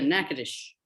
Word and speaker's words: Natchitoches: slap and dash verbal clip of a Cajun syllable slipping mouth, which lives in the other Natchitoches, the Louisiana Bayou, slippery tongue one.